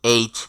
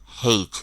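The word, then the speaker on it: H: দেখুন জর নিচে ব দিয়েছে এটা শক্ত করে উচ্চারণ করার জন্য জি জি জি এরপরের লেটার হলো এইচ যেটাকে অস্ট্রেলিয়া নিউজিল্যান্ডে বলা হয় হেইচ তবে ব্রিটিশ আমেরিকা কানাডা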